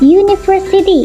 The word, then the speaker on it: university: University. Meskipun depannya U, tapi ketika diucapkan berbunyi U, huruf konsonan, maka kita pakai a unicorn.